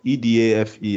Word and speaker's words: Edafe: Permit that pronunciation if that's not the way you call it. But EDAFE, I think I've seen that name before.